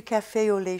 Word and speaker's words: café au lait: So remember, to correct this situation of diphthongs in French, hold your mouth organs very, very, very, very tense throughout the whole pronunciation.